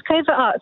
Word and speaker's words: Cov Art: Yes, it's covert art. So it's like Coventry and covert, because we wanted to